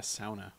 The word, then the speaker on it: sauna: as the Finlanders say, a sauna. The actual pronunciation.